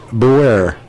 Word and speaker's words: Boer: Calvin corrected me in the first half, said it's not Boyer, it's Boer.